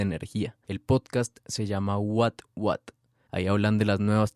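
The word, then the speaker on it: What Watt: Después de escuchar este episodio de 13%, busquen el podcast What What. Se escribe W-H-A-T, W-A-T-T. Es como que vatio, pero en inglés.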